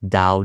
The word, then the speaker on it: Tao: In English, the spelling is Tao, but it's pronounced more like Tao than Tao, even though you read it as Tao, but it's with a silent D, if you will.